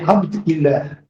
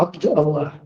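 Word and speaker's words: عبد الله: Смотри, смотри, смотри, это не Абд ила, а Абд Аллах, понимаешь?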